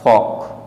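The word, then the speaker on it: folk: next word दिया हुआ हमारे पास फॉक, फॉक मीन्स होता है लोक, जैसे बोलते हैं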